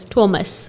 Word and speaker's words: Thomas: mosque oh exactly so i'm learning the afrikaans pronunciation it's thomas okay to a mosque